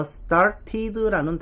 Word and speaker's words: started: 그래서 저 두 번째 T를 리을 발음으로 바꾸는 거예요.